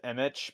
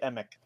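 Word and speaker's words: Emich: know what we're doing people often say image but the CH is pronounced like a k i got it right emic okay then we will say emic it it's like Roland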